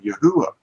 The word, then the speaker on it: Yahuah: our pronunciation today of Yahuah, because this is not a V to them. It's a V to us, but it isn't a V to the people of the 1500s.